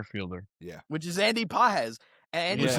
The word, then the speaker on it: Pages: Boy, Andy Pajes, not Pages. Pajes. it's spelled like Pajes. Pages, but it's pronounced Pajes.